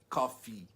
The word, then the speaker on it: coffee: Então, assim, coffee, tá? São muito parecidas, mas a pronúncia, você tem que forçar o i no final do coffee pra você, se você quiser referir, tipo, um café no Starbucks, por exemplo.